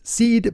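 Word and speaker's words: CID: partner Chad run the company seed which is pronounced seed but spelled CI D they're a California based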